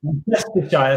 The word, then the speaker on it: Worcestershire: Worcestershire. Oh. Like the sauce. Worcestershire. We're Worcestershire. See, that's always mispronounced. Yeah. Worcestershire. So it's okay. W-O-R. I've been corrected. E-S-T-E-R Shire S-H-I-R-E. Worcestershire.